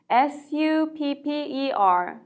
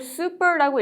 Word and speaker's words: supper: S-U-P-P-E-R, supper. 이거를 super라고 읽으시면 안 돼요. P가 한 번 더 들어가죠.